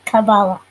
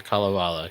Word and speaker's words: Kalevala: I'm going to butcher the pronunciation, but the Kabbalah. Yes, the Kalevala.